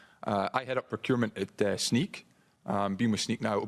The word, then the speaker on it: Snyk: I mean, I was told it's Snyk, like sneaker, okay?